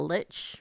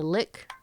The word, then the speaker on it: lich: It almost makes you think that maybe she's like a lich or a lick. I don't know how you want to pronounce it here. I've heard it pronounced I both. like lich.